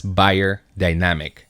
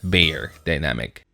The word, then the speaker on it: Beyerdynamic: you heard that right it's actually pronounced as buyer dynamic not bear dynamic anyway before anything else